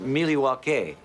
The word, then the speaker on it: Milwaukee: In fact, isn't Milwaukee an Indian name? Yes, Pete, it is. Actually, it's pronounced Milywalk, which is Elgangquin for the good land.